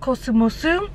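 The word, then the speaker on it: コスモス: So today we are at a drugstore called Cosmos, but here it's pronounced Kosumosu, and I believe it has something to do with like the cosmos, like in the sky.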